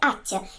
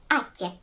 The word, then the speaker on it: атте: Очень часто в своей жизни мы говорим и слышим слово «спасибо», что в переводе на коми означает «атте». Пишется всегда с буковкой «а», но иногда слышится с буковкой «е» – «атте».